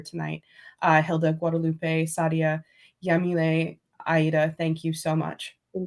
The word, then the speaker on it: Yamile: platforms on my website I know that I pronounce the Y like an sh but it's spelled yamil yamil es Mendes everywhere Saria